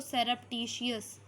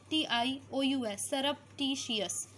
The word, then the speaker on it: surreptitious: आप क्या बोलते हो, उसको आप बोलते हो सरप्टिशियस। थोड़ा टफ वर्ड है बट 3-4 बार अगर आप इसे बोलोगे याद हो जाएगा। स्पेलिंग के तौर पर भी ये बहुत इंपॉर्टेंट है, SURREPTITIOUS, सरप्टिशियस, ठीक है, सरप्टिशियस।